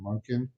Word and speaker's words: Monken: week but also that you talk about Todd monin that's how is that how you pronounce it monin correct he's a Chicago guy he did well